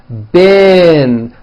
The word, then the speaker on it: been: beam however this word b-e-e-n spelled with a double e is pronounced with a low e sound bin like in the word hit okay even though it's